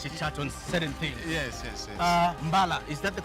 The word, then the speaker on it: Mbala: Yes, it is the correct pronunciation, taken from the old name. It was called Abekon. From that time now, it was changed to Mbala. That's the correct the pronunciation of the word.